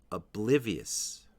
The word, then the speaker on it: oblivious: common next word is oblivious oblivious the stress is on the second syllable and there is also